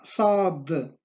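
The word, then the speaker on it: ص: Y la letra enfática, sad, sa, sa, sa, como grasa, grasa, sa, sa.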